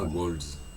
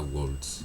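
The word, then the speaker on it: Walz: En tout cas, prénom, Wolves, c'est bien Wolves, pas Wolves. Tac. C'est lui-même qui le prononce comme ça.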